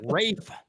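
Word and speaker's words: Ralph: Did I pronounce that correctly? You hear that, Mahler? Like Rafe.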